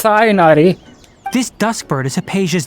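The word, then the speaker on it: Tighnari: the finger um okay you're getting the H it's not a silent h it's cyanari this dustbird is a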